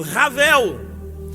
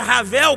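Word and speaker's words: הבל: Então a palavra vaidade, aplicando-se aqui a tradução Ravel, toda vez que a pronúncia Ravel começa com H, mas sai como som de R, Ravel, 38 vezes, apresentando a vida aqui como algo fútil, como algo sem esperança.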